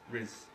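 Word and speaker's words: Rhys: Rees? It's R-H-Y-S, Riz.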